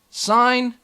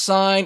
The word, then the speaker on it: sine: three incredible trig functions sine cosine and tangent notice that each of these functions has an abbreviation this is not pronounced sin it's pronounced sign everybody giggles about that